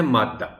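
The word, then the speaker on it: مادّہ: گزارش کر دوں کہ اس لفظ کا تلفظ ادا کرتے ہوئے ذرا سی احتیاط درکار ہے۔ اس لفظ کے دال کو شد کے بغیر نہیں لکھا جانا چاہیے، اور ظاہر ہے نہیں پڑھا جانا چاہیے شد کی آواز کے بغیر۔ وجہ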